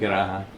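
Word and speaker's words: Pirahã: Yeah, linguist in Piraha, or how do you Exactly, pronounce it? Piraha, yeah.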